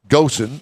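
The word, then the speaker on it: Ghosn: strike remember Carlos well I called him Goen I think it's pronounced go remember him yeah how's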